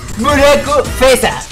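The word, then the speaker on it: ブラックフェザー: Y entre paréntesis, se pronuncia Buraco Fesa.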